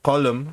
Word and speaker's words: Colm: And then was the other guy Gleason's character Colum, which is spelled Um, Colm.